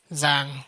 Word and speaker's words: Zhang: My name is Zhang, pronounced with a Z, and I am an